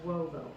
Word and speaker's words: uovo: It's pronounced uovo.